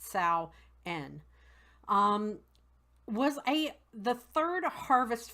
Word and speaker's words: Samhain: spelled s am h AI n but it's pronounced Sal N was a the third harvest festival of the